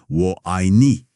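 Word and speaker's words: 我爱你: Et si on le dit vite, ça sonne vraiment proche de Wo Ai Ni.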